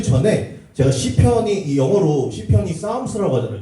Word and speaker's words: Psalms: 그 전에 제가 시편이이 영어로 시편이 싸움스라고 하잖아요. 저거 보면서 혹시 풋살람이라고 읽으신 분 있으면은 영어 공부 어 좀 섭섭하실 것 같아요. 풋살람이 아닙니다. 싸움스라 그러는 건데 저 싸움스라는 단어는 사실 시편이 영어로 이제 싸움스예요.